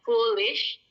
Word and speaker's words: foolish: Next kita ada foolish, bacanya foolish. Double O itu jadi U, jadi dibacanya foolish.